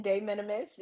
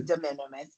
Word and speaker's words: de minimis: that's the Latin pronunciation, de minimis, and the English is Okay. de minimis.